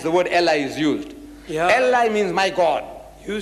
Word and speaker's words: Eli: i'm you see now you pronouncing like a european i'm pronouncing like a jew because because i'm nearer